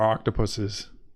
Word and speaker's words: octopuses: octopi were going to, or octopuses, which is the correct pronunciation. You should know that, right? Octopuses, not octopi, because it's not. It's because octopi is not real, so octopuses, yes.